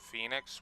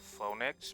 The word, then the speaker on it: Phoenix: I always pronounced it phonix because though because I was always taught you know sound out the words the way they're spelled and that word I